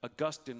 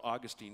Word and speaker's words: Augustine: trinity is all about augustine or augustine depending on how you prefer to pronounce it tried to describe the